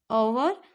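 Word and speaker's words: hour: अभी एच है, ये होवर नहीं है, इसको हम क्या बोलेंगे? ओवर। और एच साइलेंट होता है।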